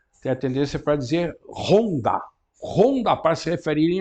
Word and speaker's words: Honda: Porque, de fato, o H em japonês ele não é assim tão forte, né? Será Honda, e não Honda. Né? Imagino que o japonês talvez que não entender, não sei, mas se aquele H é pronunciado com muita força, talvez que o japonês não entenda que se está referindo ao nome da moto.